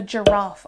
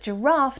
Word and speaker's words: giraffe: So G, the sound G, always ends up having a giraffe on it. But giraffe doesn't start with G, it starts with the J sound, a hard G sound.